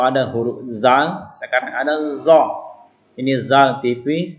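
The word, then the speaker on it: ظ: Tadi kalau ada huruf zal, sekarang ada zo. Ini zal tipis, kalau ini zo mulut kita menjadi bulat pengucapannya. Ya, zo, azimun.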